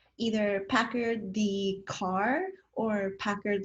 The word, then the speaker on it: Packard: Everyone thinks that it's either Packard the car or Packard like Hewlett Packard, and yes, it is like pronounced the same.